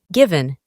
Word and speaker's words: given: Se pronuncia aproximadamente como se escribe, pero la E es muy suave, given, y se traduce como dado.